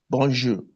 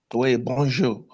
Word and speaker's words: bonjour: Try and stress the accent when you speak it. Like we say bonjour bonju bonju. Now in French like in Paris bonjour.